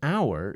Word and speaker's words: hour: sound like an hour the word hour is spelled with an H but the H is not pronounced so it's an hour